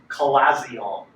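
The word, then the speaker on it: chalazion: way it's the pronunciation of how the second syllable is collazion is the way you pronounce it you may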